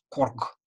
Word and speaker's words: Корг: Квачогат, Рогванна, Нярг, Пергегат, Корг, Корг. На конце слова он прямо очень напряженный, очень глубоко в горле такой Корг, Корг.